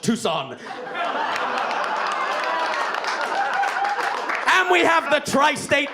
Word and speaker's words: Tucson: about it people say it's too soon and I say it's actually pronounced Tucson and we have the